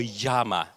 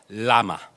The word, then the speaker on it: LLaMA: I pronounce that name is it llama Or Yama as in Spanish he said Lama Okay so llama as the inventor says okay and um we